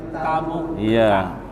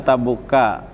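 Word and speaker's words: تبوك: Tabuka di sini bukan ini tidak pakai tanwin, jadi bugair munsharif ya. Dibacanya Tabuka. Ghazwati Tabuka. Tabuka itu kan mudhof ilaih, tetapi karena dia ghair munsharif tidak dibaca tabuki. Tabuka.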